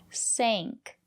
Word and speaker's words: sank: But if the letter A is before ng or nk, we pronounce it as the long A, like in plane.